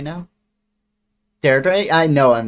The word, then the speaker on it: Deirdre: Deidre. I'm pretty sure I'm pronouncing it wrong, right? Deirdre? Deirdre.